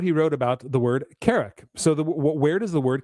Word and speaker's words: Carrock: So Tolkien, who wrote a book called the English Dialect Dictionary, and he lists that word in it where it's pronounced Carrock, like K-E-R-E-K, Carrock.